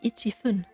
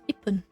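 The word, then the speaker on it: いっぷん: If you say ichi-fun, you will realize that you will need to stop the airflow after the chi in order to pronounce the fun afterwards. It's far easier to say ipun, as this can be done in essentially one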